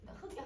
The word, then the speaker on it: 흙: 근데이 부를 때 얘들아 우리는 리을로 발음을 해야 돼? 아니면 기억으로 발음을 해야 돼? 기억으로 발음해야지.